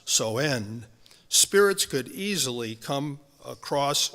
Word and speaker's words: Samhain: what we know as Halloween, called Samhain, actually pronounced Soen.